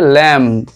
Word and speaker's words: lamb: পরেটা দেখো LAMB, আমরা উচ্চারণ করি ল্যাম্ব কিন্তু এখানে বি উচ্চারণ হবে না, উচ্চারণটা হবে ল্যাম, নট বি, ল্যাম।